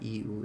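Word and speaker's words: う: It's the equivalent of the vowel U in English. Pronounce it as U.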